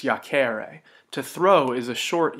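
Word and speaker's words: iacēre: difference here is that in the infinitive to lie down has a long e so it's yak ara to throw is a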